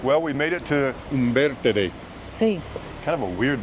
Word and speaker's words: Umbertide: Not pronounced Umbertide. Umbertide.